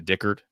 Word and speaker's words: Dickert: U Jake is a Dickard, that how you pronounce his last name. Yes.